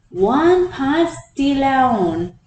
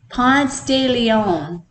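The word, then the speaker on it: Ponce de León: made in about 1513 by a Spanish explorer one pasti lown did I pronounce that right uncle Dennis uncle Dennis is shaking his head at me how do you say it Ponce de Leon I called it Florida meaning the land of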